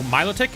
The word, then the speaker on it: Milotic: just hitting she gorgeous how do you say myoic I say myic I know milotic is an option I know myic is an option I say myoic I don't know if that's right love the NPC who